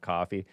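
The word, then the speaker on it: Ko-fi: is probably supposed to be pronounced coffee, but then that would be confusing because then you'd write out c o ff e.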